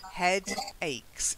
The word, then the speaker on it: headache: Not headaches, headaches. So say head. Head. Say ache. Head. Ache. Put them together. Headache. Headaches. Headache. Not hey, head. Headache.